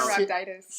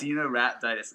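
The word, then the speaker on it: Caenorhabditis: Because I can't pronounce it. Cardinal. Cenorhabditis. Yep. Cenorhabditis.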